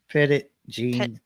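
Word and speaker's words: Petit Jean: ptit how do you say that channel name petite Jean River I guess petite how you doing yeah yep Pettit Jean River Jean River Pettit okay thanks oh oh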